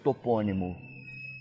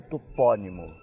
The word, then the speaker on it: topônimo: maneira suponhamos que fosse topônimo é uma palavra proparoxítona que nós outros no Brasil pronunciamos com a sílaba fechada topônimo e os portugueses com a sílaba tônica aberta topónimo Então o que aconteceu